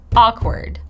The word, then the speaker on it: awkward: and by the way we don't Pronounce W right it's not o it's it's awkward awkward super simple first